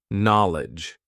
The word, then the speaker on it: knowledge: like this example four knowledge so many letters so many useless letters at least when it comes to pronunciation right let's see what